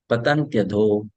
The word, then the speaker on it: पतन्त्यधो: So now you see there is Y. Right? There is Y, not I. Correct? Is it? So this it has to be pronounced as year. Y-A. Year. So it will be patantya. Patantya. Patantyadho. पतन्त्यधो. Patantyadho. Patantyadho. Patantyadho nadita. You have to combine Y and A, so it becomes year.